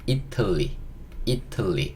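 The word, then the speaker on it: Italy: 이 T가 약간 리을 소리로 바뀝니다. 예, 그래서 이틀리. 이렇게 들려요. 이틀리. 이게 이탈리아입니다. 이탈리아라고 하면 못 알아들어요. 이틀리 이렇게 이틀리라고 발음하셔야 알아듣습니다.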